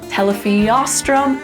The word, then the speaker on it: telephiastrum: This little guy really well illustrates where to put the emphasis in words in Latin. And it's basically always gonna go on the second to last syllable of every word.